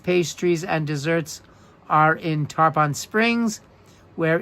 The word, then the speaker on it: Tarpon Springs: Oh, Andrew's saying it's pronounced Tarpon.